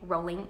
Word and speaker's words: Rowling: by the way that you're supposed to pronounce her name rolling like rolling stone and not rolling fun facts I always